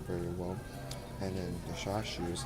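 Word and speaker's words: chashu: Now with this ramen, the bite of the shashu. Shashu. Notice I say it like the artist Shashu.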